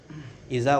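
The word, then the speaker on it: إذا: Bacanya izan apa iza? Kalau di Quran mah iza. Iza aja. Iza. Tapi kita kenapa baca suka izan ya? Iya kan iza. Mungkin karena mau pajaah kali ya. Masih iza. Ya? Masih iza bacanya mah iza.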